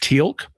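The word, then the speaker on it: Teal'c: really cool guy named Tilk. And for some reason he's got an apostrophe in his name even though they don't pronounce it in any way.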